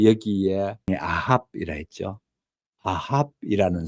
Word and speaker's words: Ahab: 아합이라는 사람이 나옵니다. 에이헵 라고 나옵니다. 영어 발음으로는요.